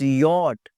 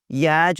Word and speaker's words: yacht: और YACHT, इट्स यॉट, यॉट, याच, और पता नहीं क्या-क्या लफ्ज़ बोलते हैं, इट्स नॉट।